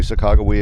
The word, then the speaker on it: Sacagawea: I'm going to pronounce it the modern pronunciation, especially Sacagawea indeed, although we do tend to romanticize her role a little bit.